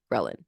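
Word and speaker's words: ghrelin: to have an increase in in grein. Grein, ghrein, that's how you say it.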